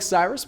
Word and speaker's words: Cyrus: It’s spelled like “Cyrus,” pronounced like “See Rooster,” just take out the “ter” Thank you very much for watching and have a wonderful day!